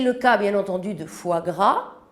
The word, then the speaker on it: foie gras: cas bien entendu de foie gras même si s'est prononcé en espagnol fois grâce c'est le cas de